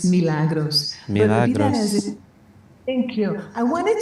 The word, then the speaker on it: Milagros: People always mispronounce my name. It's Milagros.